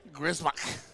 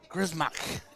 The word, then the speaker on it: Gismar: because so for me my family name is not it is it was changed to when we came to the US because they could not pronounce our last name so they simplified it gismar what one more time gismar is the proper pronunciation I like it better